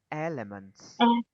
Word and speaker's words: elements: Mình đọc là nhấn âm đầu tiên là elements.